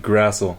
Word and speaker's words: Grassl: Grassl. It's German. Grassl. hard to pronounce.